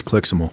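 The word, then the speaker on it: CLIXML: no cli xml correctly i'm with jordan it's clixable there you go well you better start pronouncing it squall query if you could you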